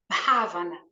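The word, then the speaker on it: bhāvanā: raiz dessa palavra ela escreve com BH a v a n a mas a gente pronuncia como se fosse um ravana né ela significa a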